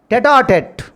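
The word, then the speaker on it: tête-à-tête: This foreign expression we should pronounce tete-a-tete.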